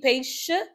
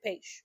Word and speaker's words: peixe: Usually it's supposed to be peixe, but most times we don't pronounce the last vowel at the end of words, so we just say peixe.